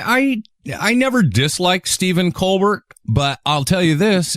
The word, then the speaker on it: Colbert: Co bear is great do you know Co bear is not how he pronounced that's not actually how his last name is pronounced is it Colbert yeah it's Colbert buty